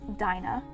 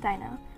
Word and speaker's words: Dina: you're asking dina or dinah by the way my name is dina it's not dinah for god's sake please stop calling me dinah i'm almost so used